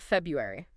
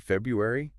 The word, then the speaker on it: February: well yeah isn't it February that's how it's spelled but a lot of people just say February they just swallow that first R oh wow you're right